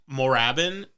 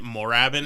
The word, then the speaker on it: Moorabbin: everyone was pronouncing it morabbin and you're missing that with the two o's yeah that's just moravin so anyway that's why